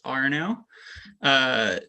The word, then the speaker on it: Arnaud: So my name is spelled, it's a French name, so it's spelled a little funny, but it's pronounced Arnaud.